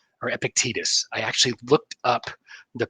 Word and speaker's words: Epictetus: This is a quote from Epictetus or Epictetus. I actually looked up the pronunciation.